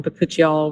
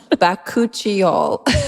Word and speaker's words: bakuchiol: Um, but I think that we settled on bakuchial. We've we looked it up online and we are pretty confident in our pronunciation.